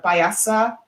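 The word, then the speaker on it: Piasa: combination of phoenix paisa it's spelled p-i-a-s-a so that's the name it native american name as a payasa or uh bird yeah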